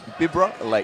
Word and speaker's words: Bibra Lake: Bibbra Lake. Bibbra Lake. Bibbra Lake. We uh like to just call it Perth, but it's actually Bibra Lake, isn't it? Bibber Lake or you can say Coburn.